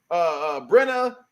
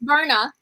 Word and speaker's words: Berna: Because we go down against Brenna. I can't pronounce her name. I keep getting mad. I'm not gonna say it wrong. It's Berna.